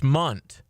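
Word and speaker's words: Mundt: It's Munt is how you pronounce it.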